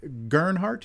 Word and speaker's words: Gart: uh nonic and you say your last name is pronounced Gart Gart yeah Gart